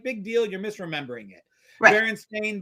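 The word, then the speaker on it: Berenstain: deal you're misremembering it Baron stain Bears you mispronounced it it was always stain I don't buy into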